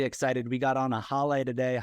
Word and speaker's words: Haleh: we got on a h today h would you please give yourself an introduction I am H it's pronounced like Hallelujah I'm a Two Times